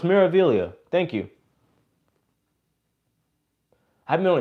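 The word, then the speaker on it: Meraviglia: 300 thank you guys the g is silent so it's miravillia thank you i've been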